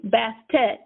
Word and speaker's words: Bastet: is half cat and that's pronounced and it's it's spelled b a s t a t bastet um half cat half woman or half and